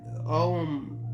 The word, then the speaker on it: Ogham: During the period when the famous Ogham, all right, and Ogham or Ogham is Ogham, okay? You don't really pronounce the GH. You do, but it's more of a silent consonant.